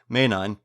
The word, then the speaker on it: Ménine: M because it's a French name, if you want to pronounce it, it's pronounced Ménine, has a great past,